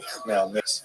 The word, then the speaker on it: Khmelnytsky: It looks something like Khmelnytsky. It's actually pronounced Khmelnytsky with a beginning.